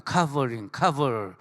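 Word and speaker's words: cover: 카버링. 발음해보세요. 카버 시작. 커버가 아니라 무슨 커버가 아니라 카버 시작. 하여튼 영어 할 때는 오는 아 발음을 많이 냅니다.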